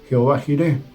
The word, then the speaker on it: Jehová Jireh: Y llamó a Abraham el nombre de aquel lugar: Jehová proveerá, Jehová Jireh. Es como se pronuncia eso.